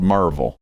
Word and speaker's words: Maryville: correct pronunciation and then there's Maryville Tennessee but it's called Marvel oh okay that's just